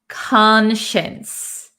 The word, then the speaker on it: conscience: conscience so even though it looks like science here we're gonna say shience conscience okay so your conscience